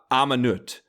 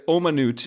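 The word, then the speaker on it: אמנות: Within that building, there was a room called Amanut. It wasn't, Omanut is the Hebrew word, but it was called, which means art, and everybody called it Amanut, which is not, but like, that was the correct pronunciation at camp, even though it wasn't the correct pronunciation of the actual word.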